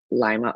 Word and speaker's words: Lima: Lima, a small community in LaGrange County, Indiana, pronounced as Lima, similar to the way people say Lima, Ohio.